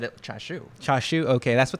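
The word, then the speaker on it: チャーシュー: perturbed by my pronunciation the japanese pronunciation is chashu and yeah yeah char charsoo it's spelled charsu right yeah and but my mom and just always said it cha shoo cha shoo okay that's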